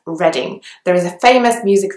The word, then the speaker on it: Reading: next one is reading you might be tempted to pronounce it as reading as in I'm reading a book but actually in a place named is reading there is a famous